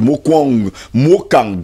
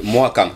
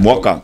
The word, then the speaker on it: Mwakang: Actually, Mwakang, I think that McDonald. Mwakang, oui. C'est dans le village de McDonald. McDonald, yes, he should be able to give us the right pronunciation. McDonald, j'espère qu'on dit Mwakang, hein? Yes, Mwakang.